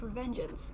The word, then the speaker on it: Revengeance: It's pronounced Revengeance.